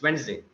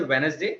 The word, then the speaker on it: Wednesday: It's Wednesday. Don't say Wednesday, just Wednesday.